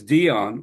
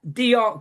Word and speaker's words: Dionne: He's like, no, that Dion, because we call Dionne Warwick in England Dionne Warwick because of the way it's spelled.